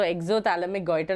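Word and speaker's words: exophthalmic goiter: p silent here so exoic goer is how we pronounce okay EXO P silent you do not pronounce the P there okay got it is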